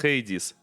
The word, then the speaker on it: Hades: Uh, cuz I forgot how to how to pronounce it correctly. So, it's Hades.